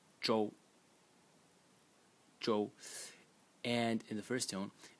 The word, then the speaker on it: 舟: element this entire thing over here which is pronounced Jo Jo and in the first tone and it's a